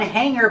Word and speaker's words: hanger: We don't say hanger. We don't make a hard g sound for the G. We pronounce it hanger with a sound in our nose.